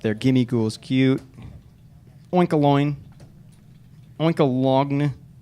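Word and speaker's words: Oinkologne: Oinkalogn. Is that like baloney, where the GN is silent?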